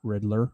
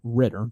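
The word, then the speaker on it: Ridder: or this new guy desmond riddler not riddler ritter desmond ritter i think it's pronounced so most likely could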